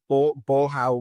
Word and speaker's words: Bolhão: I'm probably going to mispronounce this. It's the Bolhão Market, b o l h a o, um,